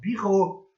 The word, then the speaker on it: bureau: Por exemplo, eu tenho em francês a pronúncia assim, tá, pessoal? Bureau. Bureau em francês.